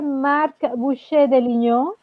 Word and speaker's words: Marc Boucher de Lignon: Et un nouveau invité, Marc Boucher de Lignon. J'ai bien dit ton nom de famille? Oui, c'est bien dit. Tu as parfaitement prononcé mon nom de famille.